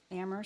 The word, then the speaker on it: Amherst: that I've known her is that you know ammer when know we're only the AG is silent there's a lot of bickering a lot